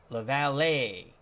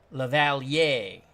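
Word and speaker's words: LaValliere: second bat eighth Sportsman Z how you doing La valet lavalier thank you very much Sportsman C I could never pronounce his name so that is Mike lavalier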